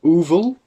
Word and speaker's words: Oevel: And I live in a small little town that is called Oevel. Uvel.